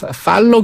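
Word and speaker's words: Thaler: 그 스펠은 T-H-A-L-E-R 그냥 팔러 교수라고도 예, 예. 발음을 하던데 지금의 이 테일러 준칙 T-A-L-Y-L-O-R이거든요.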